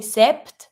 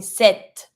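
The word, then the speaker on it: sept: because in this one you pronounce the T but you don't pronounce the P so you're not going to be saying sep you're going to be saying set imagine that there Snoopy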